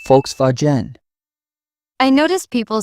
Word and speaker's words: Volkswagen: Some pronounce Volkswagen with English sounds. Germans say Volkswagen.